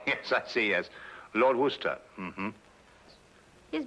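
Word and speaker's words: Worcester: else too doc but it's spelled w o r c e s t e r where sister oh yes I see yes Lord Worster mhm his M be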